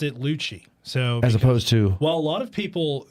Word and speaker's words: Lucci: up would pronounce it Lucy and I always be like whoa whoa whoa okay double C in Italian yeah yeah like it's